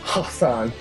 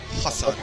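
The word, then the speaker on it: Hasan: uh he's charged with I said his name wrong it's Hassan Hassan Hassan like whatever now is that condescension or are you really supposed to pronounce it that way um Hassan he's 41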